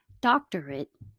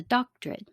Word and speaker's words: doctorate: corporate changes to corporate doctorate changes to doctrine so i'll leave you